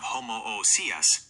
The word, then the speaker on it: homoousios: Your pronunciation of homoousios respects the integrity of the Greek root ousia, essence, and properly separates the vowels.